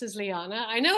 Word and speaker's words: Liané: my name is it's Liana it's how it's pronounced as Liana I know it's spelled strange like Leanne but it's pronounced lyanna uh lyanna yes answer yes man okay I